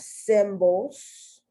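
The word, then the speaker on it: cymbals: So you have here Olympic, you have symbols, and that C is soft, symbols, because you have another word that is pronounced almost the same, because that B-A-L-S is pronounced bowls.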